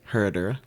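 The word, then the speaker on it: Herradura: did you pronounce that herur okay you said that really fast like got to roll the exactly right uh so so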